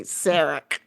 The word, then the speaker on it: Sarek: It's like Sarah with a K. Sarek.